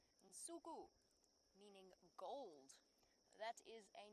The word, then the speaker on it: Nsuku: He, unlike not Brent but me, will not lose his hair, and so Nsuku is how we say it. And that's the Xitsonga word, and it's spelt.